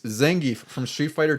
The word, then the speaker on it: Zangief: He checked your pronunciation. It's Zangief.